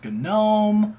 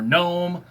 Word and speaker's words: GNOME: time I think was GNOME or GNOME. Why you pronounce the G, I don't know, but GNOME.